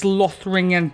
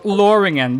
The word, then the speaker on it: Lothringen: See what we're rocking with in this Lothringen Tower of Exorcist, or Loringen, because the T is silent, isn't it?